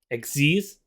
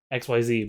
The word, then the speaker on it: Xyz: about synchro links and xc's i do know this pronounced xc's not xyz but anyways you guys